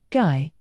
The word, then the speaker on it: Guy: well that earned him his name guy pronounced G an unpleasant sounding name